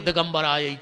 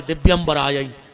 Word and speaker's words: दिव्यंबराय: करके चली जाती है तुमने लगे हो दिगंबर आय दिगंबर दो जने नग्न होके आओ जबकि उच्चारण है दिव्यंबराय हे माता तुम्हारे दिव्य